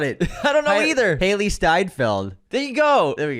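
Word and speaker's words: Hailee Steinfeld: Jordan, Haley Stanfield, Haley Steinfeld.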